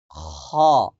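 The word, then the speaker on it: خ: এরপরে খ, খ, পরিপূর্ণ বাতাস বের হবে। খ, মুখ ফাঁকা থাকবে একটু। খ, খ।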